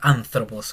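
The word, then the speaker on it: ἄνθρωπος: Antropología, eso viene del anthropos griego y se pronuncia anthropos con esta Z, anthropos. Se pronuncia como una Z de zanahoria, es lo más parecido a nosotros.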